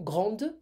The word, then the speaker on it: grande: So, feminine plural, grande, I pronounce the D, and blonde, I pronounce the D because it's feminine and plural.